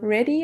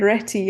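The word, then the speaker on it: Réti: I'm like, Ready? I've never heard of this person. But you meant Retty. And I was like, oh yes. With the American accent, you don't pronounce the T's all that much.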